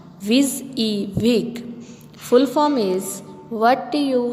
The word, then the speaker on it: WYSIWYG: Next WYSIWYG feature, pronounced WYSIWYG.